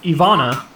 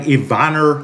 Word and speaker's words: Ivana: Why do Brits say things like that? Like like Ivonor like dater like what is this Why they add an R to words? There's no R like say like aluminium, you